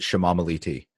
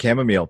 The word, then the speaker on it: chamomile: I have a cousin whose wife calls it shamamaliti, and she does not know she is mispronouncing it.